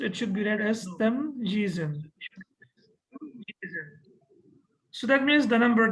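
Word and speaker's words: تمييزًا: I would always read it as tamjiz because I can see here the first ya has kasra and the second ya is sakin.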